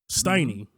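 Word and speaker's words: Stinney: Steiny. Or Stinny. Steiny. How you say it? Stinny, yeah. Stinny.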